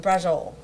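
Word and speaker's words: braciole: said it wrong okay that's all right um brol so it is a southern Italian Dish but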